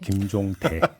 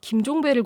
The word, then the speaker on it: 김종대: 하필이면은 그 프로그램에 나갔을 때 김종대 전 의원뿐만이 아니라 네, 발음 조심하세요. 네. 김종대. 네, 김종대. 실제로 제가 누가 갑자기 저한테 김종배를 고발했대라고 얘기를 하는 거예요.